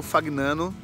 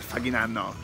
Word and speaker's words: Fagnano: E esse aqui, ó, é o Lago Fagnano. Ele tem a pronúncia é italiana, então se eu estiver falando errado, mas é Fagnano, é uma coisa assim.